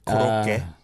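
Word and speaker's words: 고로케: Have you heard korokke? Oh, yeah. Korokke. Well, yeah. Which like- is like croquet or Yeah, something. yeah. It's just a different pronunciation of the Yeah, French word.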